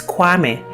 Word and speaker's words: Kwame: Now, most of us also know that God himself also has a day name, and this is Kwame. Now, Kwame is actually derived from Koyame, with the following syllables Ko, Ya, Me.